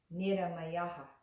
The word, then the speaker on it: Nirāmayāḥ: Matra is the meter of the syllable, and that's important too. So, for instance, if we look at our word within the chant, Nirāmayāḥ, Nirāmayāḥ, Nirāmayāḥ, Nirāmayāḥ. That's the proper meter for that word.